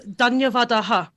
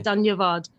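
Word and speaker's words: धन्यवादः: Oh, so Dhanyavadaha. Because there's a visarga on the end for Sanskrit. In Hindi, they just say Dhanyavad, which is a shortened version.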